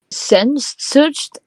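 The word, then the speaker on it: Sehnsucht: answers um remember that Ramstein is a German band uh pronounced um sends searched Evie that answer is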